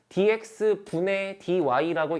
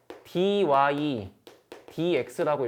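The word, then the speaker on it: dy/dx: 그리고 얘를 읽을 때는 dx 분의 dy라고 읽는 게 아니에요. 그냥 dy dx라고 읽어. 이거 분수 읽는 게 아니야.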